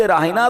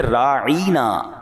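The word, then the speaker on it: راعنا: और अंदाज यानी लफज़ रायना तो वो भी कहते थे मगर वो उसका प्रोनाउंसिएशन चेंज कर देते थे वो क्या कहते थे राईना या लगा देते और लंबा कर देते उसको तो राई का मतलब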